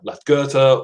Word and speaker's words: Lagertha: more than that, but Lagertha is how I've heard it pronounced.